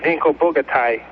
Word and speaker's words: Vinko Bogataj: And the actual pronunciation of his name is Vinko Bogataj.